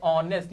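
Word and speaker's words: honest: अब यहां पे अंजलि इज ए ऑनेस्ट। यहां पे एच क्या होता है? साइलेंट होता है। आवाज किसकी आई? वॉवेल के साउंड की।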